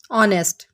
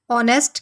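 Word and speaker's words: honest: آپ این لگائیں گے۔ آنیسٹ، آنیسٹ کے اگر آپ سپیلنگ دیکھیں تو یہ ایچ سے سٹارٹ ہو رہا ہے، اس حساب سے ہمیں اس کے ساتھ آ لگانا چاہیے، لیکن جب ہم آنیسٹ کو بولتے ہیں تو آپ ساؤنڈ دیکھیے، آنیسٹ، او۔ اس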